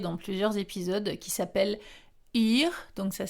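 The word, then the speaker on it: Yr: ai déjà conseillé dans plusieurs épisodes qui s'appelle yves donc ça s'écrit y r c'est une application qui est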